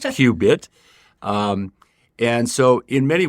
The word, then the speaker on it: CUbit: the Cubit Quantum initiative spelled CU bit and pronounced qbit um and so in